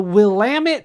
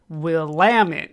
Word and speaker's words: Willamette: We also pronounce it the Willamette Valley. I don't make the rules. I know it doesn't look like that when you type it out, but it is Willamette.